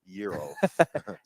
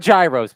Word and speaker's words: gyros: complimented me yesterday on my pronunciation of Euros Euros they're not Gyros people they're not Gyros don't say Gyros no don't don't say Gyros they're Euros so I was listening